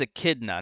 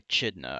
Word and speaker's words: Echidna: Sonic the Hedgehog - that's a kid now not a Chitina I used when I was a kid I pronounced that jitna it's a kid now